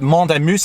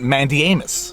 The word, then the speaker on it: mandamus: is a mandamus well in Quebec in French we pronounce it mondo moose and if you want to pronounce it incorrectly we pronounce it Mandy Amos and if there happens